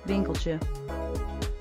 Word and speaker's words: Winkeltje: Winkeltje.